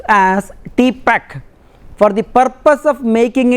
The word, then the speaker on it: TPACK: key framework acronym was renamed as T pact pronounced as T pact for the purpose of